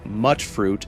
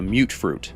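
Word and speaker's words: mutfruit: A mute fruit, which, slight tangent here, I always thought that pronunciation was mutt fruit until I heard an NPC in-game call it a mute fruit.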